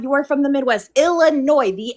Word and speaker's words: Illinois: quote unquote grammar because you're pronouncing the S in Illinois is very funny because that's not grammar.